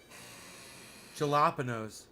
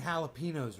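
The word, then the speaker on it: jalapeño: You mean jalapenos, Ricky? What do you mean jalapenos? What's that? I'm talking about jalapenos. Jalapeno. What? What are you saying, Bubbles? What are you saying? Jalapeno. The J is silent.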